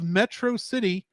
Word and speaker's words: Metro City: Megamind's pronunciation of Metro City has the same stress pattern as Metropolis.